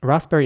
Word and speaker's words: raspberry: And raspberry is easy to say, in my opinion, but you have to basically not even pronounce the P that much after the S. So it's basically just ras and then berry.